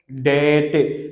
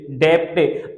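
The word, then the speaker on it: debt: उसके बाद यहाँ पर क्या होता है, डेट, डेप्टे। अक्सर लोग इसको डेप्टे बोलते हैं, ये डेप्टे नहीं होता, ये डेट होता है। यहाँ पर भी डी साइलेंट, बी साइलेंट है, डी बी टी, डेट,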